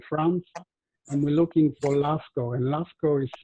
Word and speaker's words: Lascaux: still staying in france and we're looking for lasko and lasco is spelled l a s c a u x